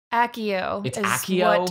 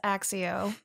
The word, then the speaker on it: Accio: two different directions but i believe that this one's pronounced ossio accio it is meant to be i always read it as axio so yeah because in latin i believe c's are meant to be pronounced hard never soft so i'm mispronouncing this